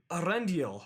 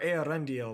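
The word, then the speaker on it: Eärendil: stories that took place during the First Age, Arendil or Earendil or however you really want to pronounce his name, Earendil.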